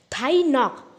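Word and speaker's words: Thai Ngoc: थाई नॉक, जी silent है।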